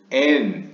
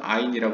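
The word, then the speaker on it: אין: 케텔, 10개 스피롯 중에 가장 위에 있는 케텔은 often, 종종 N, 히브리어 N 혹은 이제 뭐 한국에서는 아인이라고 많이 소개됐지만 그냥 현대 히브리어식으로 발음하면 n, 그러니까 없다라는 의미입니다.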